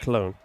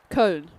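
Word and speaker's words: Köln: Con. So it's like an e r. So like kern like a but like a kernel, you know, like a kernel of popcorn but without the eel.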